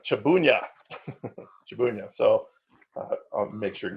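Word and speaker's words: Trzebunia: to bloody polish angler his last name is pronounced shabooya shabooya so make sure to get that right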